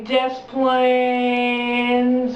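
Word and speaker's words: Des Plaines: how to pronounce this it's not pronounced like you think it'd be pronounced it's pronounced the lazy way disciplines river um in the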